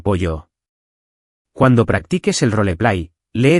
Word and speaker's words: pollo: Y pollo tiene la doble L como pollo.